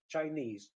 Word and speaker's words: Chinese: The stress is here, Chinese.